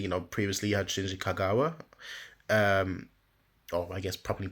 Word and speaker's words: Shinji Kagawa: Dortmund because obviously you know previously you had Shinji Kagawa um or I guess properly pronounced Shinji Kagawa um but now you've actually got one at